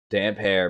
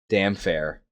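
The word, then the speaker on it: Damphair: Damp hair, baby. Good chapter. Damp hair. Yeah, for sure. I think the first time I read this chapter, I was pronouncing it damn fair.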